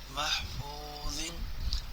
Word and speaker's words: محفوظ: میم حا زبر مح، میم حا زبر مح، فا واو پیش فو، محفو، ضا ذو زیر زن، محفوظ۔ آگے وقف، محفوظ۔ نون زیر نی، سین